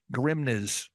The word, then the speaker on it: Grimnes: i m nees so someone's going grimnes Grims gri you got it the first time if you add s